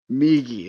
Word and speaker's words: Migi: Miji or Migi? Oh, it's me. Migi. Okay, I've been saying it wrong then.